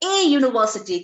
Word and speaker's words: university: A university, I already told you, though it begins with a vowel, but it starts with a consonant sound. So a university, keep in mind the sounds.